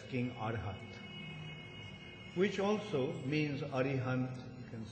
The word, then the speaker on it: Arihant: Actually, they pronounce his name as Arihant. But Bhagavatam describes him as King Arhat, which also means Arihant, you can say.